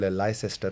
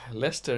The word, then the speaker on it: Leicester: Today we are in Leicester also called Leicester by the freshies. Lester is a bloody weird name, yeah.